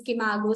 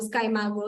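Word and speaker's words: SCImago: It is pronounced as Skimago, Skymago, Simago, Saimago. So whichever way I say it as Saimago.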